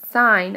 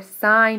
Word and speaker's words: sine: is abbreviated SI n so it's not sin of a we pronounced it sign of a or sine of B or sign